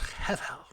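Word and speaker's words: הֶבֶל: In Hebrew, it's pronounced hevel, two breathy consonants.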